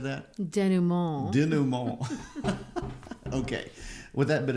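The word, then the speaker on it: dénouement: First of all, I like the pronunciation of your French word up here. Denouement, is that how you said that? Denouement.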